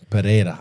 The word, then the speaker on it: Pereira: cold once shout out to Pereira um yeah perea is that how you say it yeah perea Alex pan Pera oh he's a he's he's